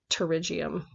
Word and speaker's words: pterygium: risk for getting a pterygium and the P is silent so it sounds like pterygium so this kind of